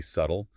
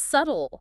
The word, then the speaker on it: subtle: one subtle subtle okay I've definitely heard people say subtle with a clear B sound yeah that's a common mistake is that b silent it is it's subtle subtle okay so it rhymes with shuttle exactly another sneaky silent